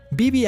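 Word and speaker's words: Badb: Y si pensabas que los nórdicos eran intensos, espera hasta que conozcas a Bibi, o mejor dicho, ¿no? La forma correcta de pronunciar su nombre sería Vivi o algo así.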